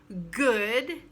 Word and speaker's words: good: However, then there's a similar spelled word, good, which is pronounced good, not good, good.